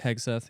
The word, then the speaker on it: Hegseth: I don't know how to pronounce this last fucking name. Pete Pete- Hegseth? Hegseth? Hegseth, yeah.